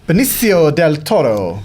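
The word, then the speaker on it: Benicio Del Toro: Benio Del Toro. Uh, ages ago, that's how you pronounce that.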